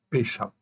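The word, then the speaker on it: פשע: Ça, ce mot-là, ça se prononce pécha. Pécha, c'est pas un péché.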